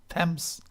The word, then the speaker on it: Thames: London als Hauptstadt von Großbritannien, allein ob der Themse, oder wie geht das am Englischen ausgesprochen? Thames.